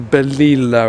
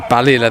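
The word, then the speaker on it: Balilla: back of that one as well like a Bela or something like that I'm Sor I nailed to that pronunciation oh balila there you go now what is this this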